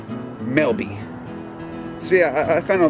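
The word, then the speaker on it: Melba: Same two guys were telling me about a community that's near a place where we ride bikes that's spelled M-E-L-B-A, Melby.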